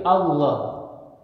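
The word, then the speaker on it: الله: Gitu ya, tapi Allah. Jadi menyebutkannya dengan tafkhim, tebal ya, dengan suara yang tebal.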